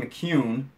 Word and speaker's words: McCune: Sean McCune, it is not McKeon, and I have said that wrong more than a few times on this podcast, but Sean clarified for us the other night. It's pronounced McCune.